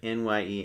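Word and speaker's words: nyem: The word on the right there n y e m "nye".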